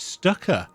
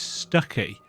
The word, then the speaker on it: Stucky: think I pronounced it Stucker I think I called him Stucker uh when we got to Bright Falls here but it's Stucky I was very close